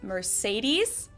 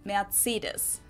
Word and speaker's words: Mercedes: in Germany um so most Americans call this Mercedes in German we pronounce it Mercedes so Mercedes versus Mees Mees no no no